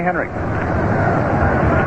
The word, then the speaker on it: Henrich: The Yankees ahead 3-2, and here is Tommy Henricks. The name is pronounced as though the final letter is a K, although it's spelled Henrich. Henricks was really pounding that ball last year for the Yankees.